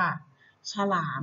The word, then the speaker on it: ฉลาม: อก ม ขนม ค่ะ ฉลาม นะ คะ ช ล อา ม ฉลาม อัน นี้ จะ เป็น